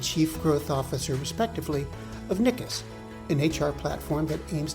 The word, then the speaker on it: niikiis: First, can you tell me a little bit about what niikiis does? And am I pronouncing that right?